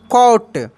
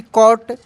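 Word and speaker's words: caught: यू जी एस टी कॉट जब किसी भी वर्ड में मेरे दोस्त अगर जी एच एक साथ रहता है तो यह साइलेंट रहता है।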